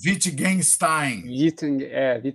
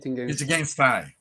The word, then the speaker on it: Wittgenstein: Wittgenstein. Wittgenstein. Isso. Ele é conhecido por ser filósofo da linguagem, né? Foi conhecido, no caso. Ele utiliza esse argumento. O Wittgenstein ele questiona uma série de questões científicas a